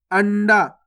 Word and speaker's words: अंडा: ये भी सही है, बिंदी लग जाएगी तो भी आधा आना का उच्चारण हो रहा है, और इस प्रकार से लिखा रहेगा तो भी आधा आना का उच्चारण हो रहा है, तो दोनों तरीके से सही है।